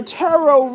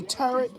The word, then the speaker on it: tarot: you're not really a tarot reader okay and i hate when people say turret that is not the correct way to pronounce it it's taro the i'm gonna start